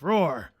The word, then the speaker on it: Roar: I think you I think you week Weekly pronounced his first part of his name it's roar yeah yeah it's more of a sound effect